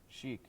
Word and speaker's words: Chic: one chick I think chic chic that's how you say it yeah they're good